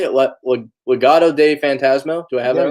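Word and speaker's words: Legado del Fantasma: Legado de Fantasma.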